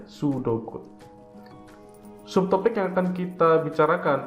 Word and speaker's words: pseudocode: Ingat, itu bacanya pseudocode, jadi P-nya itu nggak kebaca ya, pseudocode.